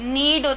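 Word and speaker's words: knead: with meaning of Lord नीडो तरह ठगुन्ना इसमें के साइलेंट है अच्छा लड़की आटा गूंद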